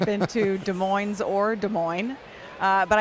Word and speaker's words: Des Moines: De Moines. They pronounce the S here.